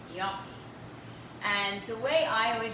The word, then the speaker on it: gnocchi: that we have because people have pronounced it gnocchi, gnocchi, and after they give up for a while, they just take the menu and they point and they're like, we'll have this. So the correct pronunciation is gnocchi.